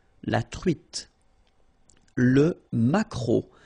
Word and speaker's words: maquereau: T, la truite, le maquereau. So technically this K, just pronounce it K, mac, maquereau, maquereau. Alright? And then E-A-U, remember when you combine these three vowels, you get the sound O, maquereau.